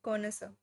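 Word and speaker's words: connoisseur: next word is कोनस इसमें आर वाला यू आर वाली चीज साइलेंट है कोनस कोनस होता है एन एक्सपर्ट जज इन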